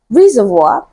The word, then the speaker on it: reservoir: you can guess that option A is the final answer to the question Reservoir so it is stressed on the first label as opposed to option